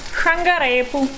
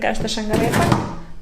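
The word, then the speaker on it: šargarepu: I forgot, I cannot take it all out, What I need Um Um Carrot, "šangarepu" Don't say "šangarepa" It's a mistake, we used to say it like that when we were little.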